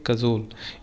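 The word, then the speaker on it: cajole: ठीक है, क्या प्रोनाउंस करेंगे? कज़ोल।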